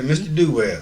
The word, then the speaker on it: Duell: Duell, did I pronounce it right? Yes, you did. All right, we're so excited. Yeah, Mr. Duell.